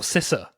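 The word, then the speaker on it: CISA: security infrastructure Security Administration can we have a debate on that ciser or cissa or Sissa it's siss said sisa yes I think it's Sissa I was saying it wrong and then I watch some talks about it where the official speaks I'm like oh I've been saying it wrong the entire time I think Sam's right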